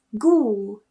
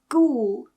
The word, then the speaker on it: ghoul: Another one is ghoul, ghoul. In some cases, towards the end of a word, GH is actually pronounced as f.